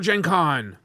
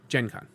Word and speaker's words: GenCon: I actually know it's like the hard G for like the GenCon stuff is a lot like the Yu-Gi-Oh! And anime scene. That's how they would pronounce that stuff.